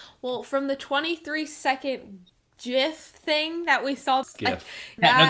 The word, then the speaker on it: GIF: i don't know well from the 23 second gif thing that we solved yeah this is the most offensive part of the video leave your opinions in the comments below but it is not jif it is gif jif is a peanut butter so well hey